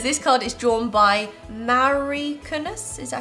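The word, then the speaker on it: Mauri Kunnas: Which in it says, this card is drawn by Mari Kunas, is that how you say it?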